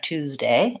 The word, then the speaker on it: Tuesday: so Tuesday I have ooh Wow twos and a Z sound day I want to make sure my a is long that I have that diphthong there Tuesday and it has first syllable stress short long short Tuesday versus Thursday I